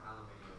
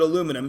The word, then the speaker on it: aluminum: Aluminum or aluminium? I pronounce it aluminum because I'm from Canada, and there's no extra I.